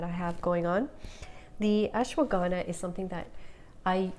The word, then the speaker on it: ashwagandha: a long time to figure out how to pronounce ashwagandha ashwagandha it's known for its calming properties as well